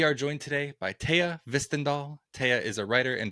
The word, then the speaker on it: Hvistendahl: All right, we are joined today by Taya Hvistendahl.